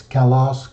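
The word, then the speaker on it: καλός: this slide is that the accent of Kalos is always on the last syllable the Ultima and it's always on the last vowel so it's Kalos Callum kallu calla calla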